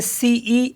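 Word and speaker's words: cent: तो for example जैसे सीई एन टी तो इसको पढ़ते हम स क्योंकि टी साइलेंट होता है तो स हो गया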